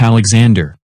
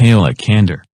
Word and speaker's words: Alexander: And also, it's pronounced Alexander, not Alakander. Sorry, Alakander.